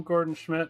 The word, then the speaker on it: Gordan Schmidt: Yeah, hi, I'm Gordan Schmidt.